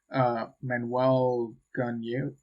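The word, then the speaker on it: Manuel Gagneux: Manuel Gunyu, I think it's pronounced.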